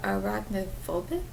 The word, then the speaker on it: arachnophobic: yeah I would say for those who are arachnophobic that's how you say it but for those